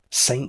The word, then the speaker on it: ST: I'm calling it. I don't know if anyone else pronounces it that way, but the ST offline tournament.